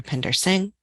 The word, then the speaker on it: Upinder Singh: and make sure that you have an accurate pronunciation for each of their names Dr Pinder Singh Dr Tanya tawitai Dr Andrea folks and Dr